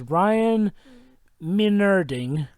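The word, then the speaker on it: Ryan Meinerding: Okay, the way to pronounce his name is Ryan Maynarding.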